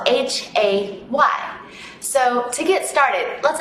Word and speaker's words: Hay: Hay, pronounced like I, but spelled H-A-Y.